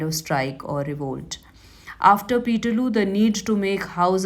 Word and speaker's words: Peterloo: Now, they were suppressed brutally in what came to be known as Peterloo. Now, this was rhyming with Waterloo, where the French army of Napoleon Bonaparte was defeated by Nelson in Waterloo in 1815.